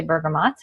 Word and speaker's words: bergamot: would apply to this because it has the bergamot in it and I just learned recently some people say Bergamo and some people say bergamot and our bergamot is sourced in Italy and